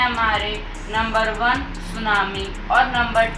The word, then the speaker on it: tsunami: आगे टी लगता है पर जब हम इसको बोलना है की प्रोनाउंस करते हैं तब यहां पे टी साइलेंट हो जाता है तो इसलिए हम इसको यहां पे सुनामी कहते हैं जैसे की इंग्लिश में